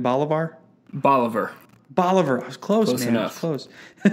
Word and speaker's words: Bolivar: lives with his wife and three children in bolar Missouri that's how you say it right Bolivar Boliver Boliver I was close close I I when